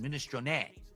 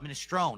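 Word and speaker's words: minestrone: The Italian pronunciation, ministron, not mini, it's ministron. But in American or English, you pronounce it ministrone. It's a silent e just like provolone.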